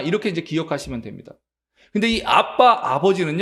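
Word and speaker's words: אבא: 입니다 아람어 물가 생각하면 아빠 하니까 지금 우리 한국말로 아빠라고 이렇게 생각하실 수 있는데 그 아빠가 아니에요 발음이 아빠입니다 아빠 아람어로 발음이 아빠의 아빠 그런데 큼 공교롭게도 이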